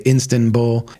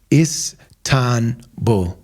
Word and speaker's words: Istanbul: here and they say instan buul it's istan bu is it sounds simple but a lot of people that come here tell their friends like I'm going to instant bull I lived in Minneapolis